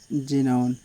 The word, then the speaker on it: xenon: आपने देखा कि तीनों वर्ड में जो सेंटेंस है, जो वर्ड है हमारा, उससे स्टार्टिंग हो रही है एक्स से, लेकिन इसका उच्चारण हम ज कर रहे हैं।